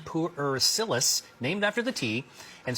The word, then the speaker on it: Pu'er: How do you pronounce this? This is called pu'er tea.